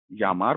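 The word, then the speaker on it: llamar: तो जैसे मैंने आपको बताया कि इसका प्रोनाउंसिएशन लगभग ये है, आधा य और य, जैसे कि हम प्रोनाउंस करते हैं भैया में, वो वाला। तो कुछ एग्जाम्पल्स ले लेते हैं, जैसे कि पहला एग्जाम्पल मैं ले लेता हूँ, यामार। तो इसको हम यामार बोलेंगे, ओके।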